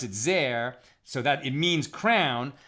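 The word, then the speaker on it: זֵר: tsar meaning strange but according to the traditional vocalization we read it as zer or zaire meaning meaning crown so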